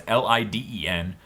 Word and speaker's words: Leiden: Leiden Films, which is how I'm going to pronounce that, it's Liden.